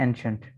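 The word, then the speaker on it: ancient: एनशंट, ANN हो गया, और CI की आवाज़ शीन की आएगी, और ENT शंट, ठीक है, एंशंट।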